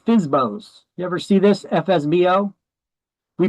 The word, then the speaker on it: FSBO: You ever see this FSBO? We pronounce it as FSBO.